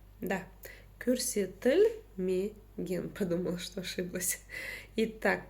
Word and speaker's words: көрсетілмеген: Итак, как же прочитать букву О с черточкой посередине? На самом деле все довольно просто. За основу нужно взять букву Ё. И смотрите, такое дело. Когда мы произносим букву Ё, изначально мы слышим и краткую. Ё, ёлка, елка, да? Вот. Убираем эту часть, и у нас остается звук который мы и используем в казахском языке.